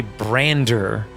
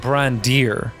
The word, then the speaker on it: Brandir: kellish or in keloid they would say brander not brandir which is his actual name so the players thought